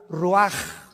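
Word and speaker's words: רוח: Se pronuncia la ch en hebreo como J. Roaj, se le halló y se traduce espíritu.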